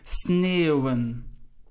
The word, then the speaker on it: sneeuwen: Just notice the E, and the U. So the three vowels which follow one another, you pronounce as eeuw, sneeuwen.